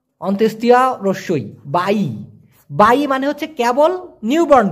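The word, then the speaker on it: bayi: উচ্চারণটা হবে বাই অথবা বা অন্ত্যেষ্টিয়া রস্যই, বাই।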